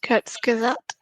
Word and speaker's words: Kurzgesagt: One thing I have found really interesting to watch and useful to think about is a little YouTube channel called Kurzgesagt.